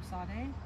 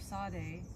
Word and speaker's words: Tsade: trouble pronouncing the letter Sade but if you think of pizza then uh you should be good to go yeah yeah and it